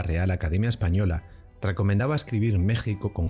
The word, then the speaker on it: México: ese momento, es decir, seguir escribiendo México con X, aunque se pronunciara como J en vez de con la grafía J como recomendaba la RAE en aquel momento.